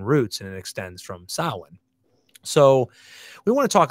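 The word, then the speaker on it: Samhain: sa now sa you know some people say sam ha because they don't know how it's pronounced Sam ha it's sin and sin is is an Irish word that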